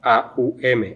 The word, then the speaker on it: Aum: Ishvara es la sílaba aum, aum, is the syllable A-U-M, Aum. o sea, el om. So the Om.